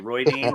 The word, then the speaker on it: Rhuidean: It's like Roy Dean is his cousin. They're friends. It's true. Oh, Roy Dean, like Suan. Roy Dean. Yeah, like Suan. They pronounce it Roy Dean.